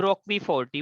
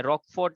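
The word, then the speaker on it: Roquefort: तो वो bacteria Swiss cheese के प्रोडक्शन से जुड़ा है, पर पेनिसिलियम रॉकवीफोर्टी, वो रॉकवीफोर्ट नाम का या रॉकफोर्ट नाम का चीज, अलग अलग लोग प्रोनाउंस करते हैं, वो उसके साथ जुड़ी है और वो एक फंगस है।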